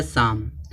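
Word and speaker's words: psalm: silent होगा यहां देखो लिखा गया साम यहां देखो एस है तो एस से पहले क्या आया पी जब एस से पहले पी आएगा तो पी क्या हो जाएगा साइलेंट हो हो जाएगा साम साम माने क्या भजन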